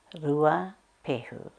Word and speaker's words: Ruapehu: is Brewer Peru our local mountain rua peel lua peru tornado tornado now two way now to way